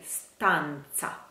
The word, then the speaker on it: stanza: Let's keep in mind that S is a S, S, S. St, st, st. Sta, s, s, you, st, st, st, you, sta, sta, sta, you, stanza, za, za, never za, never, stanza. It's like speranza.